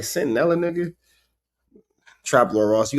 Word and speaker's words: Centinela: But this is also the same nigga that said, he didn't say Centinela. He said Catanilla, or some shit like that.